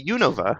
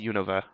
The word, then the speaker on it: Unova: is I feel like the duration I'm spending on the middle syllable is either too long or Too Short each time I say it can't seem to get it right to Unova Unova you know that